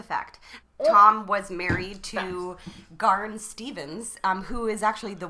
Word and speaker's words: Garn: Her name is Garn Stevens. Can we spell that, please? Garn. Oh. So it's like barn, What but with woman the G.